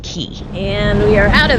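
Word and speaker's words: Cay: That's cuz it is spelled C A Y, but it's actually pronounced key.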